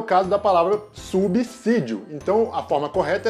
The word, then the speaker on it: subsídio: a pronúncia certo é subsídio ou subsídio roda vinheta o s depois do prefixo sub sempre vai ter som de s mesmo não de z o s só vai